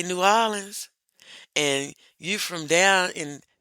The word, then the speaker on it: New Orleans: me he was from, I was taught in school to say New Orleans. He was like, "You saying it wrong." And I was like, "How am I supposed to say it?" He said, "It's New Orleans."